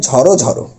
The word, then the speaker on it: ঝড়ো ঝড়ো: তাহলে কি হয়ে যাবে, ঝড়ো ঝড়ো, মানে ও কার আসবে। তাহলে অ এর উচ্চারণটা করবো ও এর মতো, লিখবো কিন্তু এগুলো লিখিত রূপ এটা, কিন্তু উচ্চারণের ক্ষেত্রে এই রূপ।